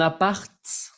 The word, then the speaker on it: appart: Un appart, como que siempre digo a mis alumnos, no se pronuncia la T al final, pero en esta palabra sí, porque es la palabra corta para decir un appartement. Es un appart, ¿ok?